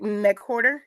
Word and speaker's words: McWhorter: Am I saying it right? Okay. Which one did I say right? McWhorter? Yeah, Okay.